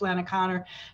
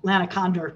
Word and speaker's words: Lana Condor: shooting the video with Lana Connor to not just have her talk, but to have her physically demonstrate her box breathing. Lana Condor, by the way, I mispronounced her name.